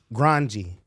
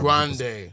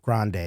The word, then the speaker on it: Grande: name let me and ar Ariana grandi right instead of Ariana Grandy or whatever how Grande Grande that's her name it's Ariana Grandy no